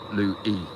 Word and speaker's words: Louie: I forgot to say my name is pronounced Lou E Louie there we go Bush